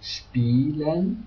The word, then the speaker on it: spielen: The IE is pronounced a long E, so like spielen, to play, or in some special words like it's pronounced like singular, so Italien, Italy.